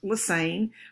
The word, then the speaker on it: Lesesne: The last name looks like Lesesne, but it's pronounced Lassane, rhymes with insane.